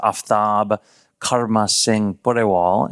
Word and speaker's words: Aftab Karma Singh Pureval: The correct pronunciation of my name is Aftab Karma Singh Pureval, and that is a reflection of the various ethnicities that I embody all at the same time.